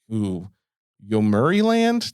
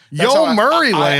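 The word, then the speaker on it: Yomiuri Land: And it's actually part of another park called like uh Yuri Yuri Land. That sounds very English pronunciation to me. But Yo, Murray Land.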